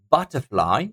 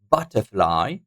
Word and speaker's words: butterfly: stress guys so here butterfly look butterfly it will be the first syllable taking the stress on